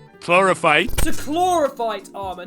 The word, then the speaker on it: Chlorophyte: Actually, while I'm recording this, how do you actually pronounce it? Chlorophyte. Chlorophyte.